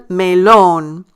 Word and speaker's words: melón: Again, notice I stress the syllable that is bold and underlined. El melón.